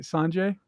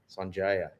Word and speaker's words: Sanjaya: Sanjaya. Yeah, Sanjaya. That's what it was. Yeah, Sanjaya. You gotta say it right.